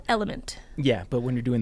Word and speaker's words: LMNT: It's actually called Element. Yeah, but when you're doing the website, you got to do it phonetically.